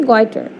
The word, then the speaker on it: goitre: The pronunciation is goiter and the spelling is Goitre.